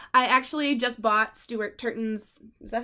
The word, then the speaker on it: Turton: I actually just bought Stuart Turton's, is that how you say it?